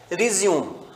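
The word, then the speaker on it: résumé: Verb में pronunciation है रिज्यूम, verb में हम इसे रिज्यूम कहते हैं, ठीक है, और नाउन में इसे हम रेज्यूमे कहते हैं।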